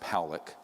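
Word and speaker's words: Pawelec: had 600,000 views this man William poock is pronounced poock uh was a man very good man who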